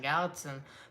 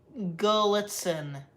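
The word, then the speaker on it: Gallitzin: Go to Crescent, Gallatin. Pronounce, Gullitzen.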